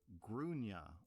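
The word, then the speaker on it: Gráinne: is called Grain, which the Irish generally pronounce as Grúne, or thereabouts.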